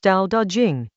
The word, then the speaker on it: Dao De Jing: The Tao Te Ching, pronounced Tao Da Ching, chapter 54.